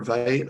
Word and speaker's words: Vite: save instant um i think it's pronounced v or vite uh it's super nice